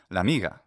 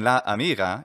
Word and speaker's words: la amiga: But would you teach that la that like Spanish writes la and then separated amiga, la amiga, but it's pronounced with the vowel merger, l'amiga, l'amiga. Saying la amiga is an artificial thing to steal students.